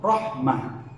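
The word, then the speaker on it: رحمة: Jadi misalkan di Al-Quran ada kalimat rahmatun, maka ketika berhenti di ujung kalimat tersebut rahmah, tidak menjadi rahmat tetapi rahmah, menjadi huruf ha.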